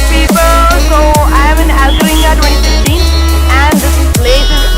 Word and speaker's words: Alcheringa: Alcaringa.